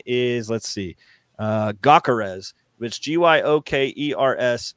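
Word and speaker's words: Gyökeres: his name is, the pronunciation is, let's see. Gakarez, which G-Y-O-K-E-R-S.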